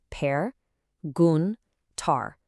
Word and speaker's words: perguntar: Our final foundational verb is perguntar, which simply means to ask a question. This is a beautifully rhythmic word. Let's slowly sound out the syllables. Per gun tar. Really emphasize that last syllable.